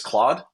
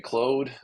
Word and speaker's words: Claude: I learned yesterday that the proper way to pronounce the large language model from anthropic its name is Claude I thought it was G be Cloe um I my first